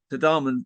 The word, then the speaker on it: Tadhamon: Tadhamon. Tadhamon singers.